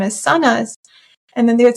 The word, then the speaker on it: Sanaz: So when I got a new job I um pronounce I would pronounce my name as Sonas and then they would say oh how do I say it?